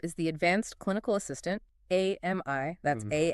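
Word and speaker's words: AMIE: Okay, so first up is the advanced clinical assistant, AMI, that's A M I E, pronounced like the name Amy.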